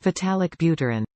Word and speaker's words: Vitalik Buterin: Vitalik Buterin.